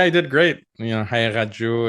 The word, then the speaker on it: Haqiqatjou: did great you know Hau is generally how it's pronounced uh the the Q is what people have trouble with it represents a K in Arabic or farsy so uh you can pronounce like a or softer like more like a sound either way okay so